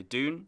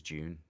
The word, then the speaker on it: Dune: some radio interviews, and a lot of British pronunciation is June. You know, just going naturally into that. So it is interesting, but I think we've been told it's Dune.